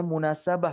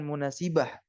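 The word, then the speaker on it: مناسبة: Harokat yang menyesuaikan juga artinya, tetapi dibacanya munasabah bukan munasibah.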